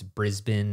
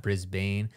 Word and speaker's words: Brisbane: someone else commented how it's it's Melbourne not Melbourne and it's Brisbane not Brisbane and I'm like okay I